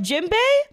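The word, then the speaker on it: Jinbe: like like for like jimbe I understand the spelling that they did because like they say like n as an M when they say his name so I totally understand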